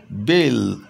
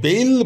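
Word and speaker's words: bell: হবে তাহলে বেল দেখো বেইল বলছি না কিন্তু বেইল এটা নয় বেইল এটা নয় বেল অনেকটা ই এবং এই এর মাঝামাঝি উচ্চারণ বেল বেল এইচ আই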